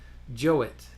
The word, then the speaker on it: Jowett: So he says, what interested me most was his opinion of Jowett. And then in parentheses, he says, here usually pronounced to rhyme with poet. And this person that he's referencing is Benjamin Jowett, who lived 1817 to